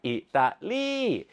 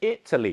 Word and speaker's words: Italy: ตรง กัน ข้าม เช่น ดู ตัว อย่าง นะ ครับ อิตาลี แต่ ใน ภาษา อังกฤษ จะ เป็น italy นั่น เอง ครับ แต่ พอ เปลี่ยน